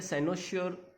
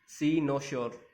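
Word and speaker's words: cynosure: यहाँ पे साइनोश्योर, यहाँ पे साइनोश्योर भी कहते हैं और सी नो श्योर, दोनों प्रोनाउंसिएशन है सी नो श्योर, और साइनोश्योर भी कहते हैं।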